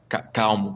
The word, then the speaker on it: calm: Ou, sei lá, calmo, por exemplo. Uhum, Em português se separa em duas sílabas, né? Calmo. uhum, Em inglês é só uma sílaba, uhum. né? Não existe duas sílabas, é só calm.